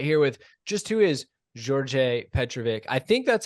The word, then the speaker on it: Đorđe: It was almost like a J sound at the beginning. Yeah, the like Serbian D with the bar is a DJ. It's a DJ. So yeah, it's Đorđe Petrović, I believe.